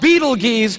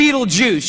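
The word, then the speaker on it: Betelgeuse: heard about this star it's called Beetle geese or be Beetle Juice you can pick your pronunciation I'm obviously going with Beetle Juice and Beetle Juice is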